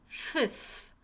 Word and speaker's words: fifth: Just think of 15 to help you remember. Think of 15 or 50, right?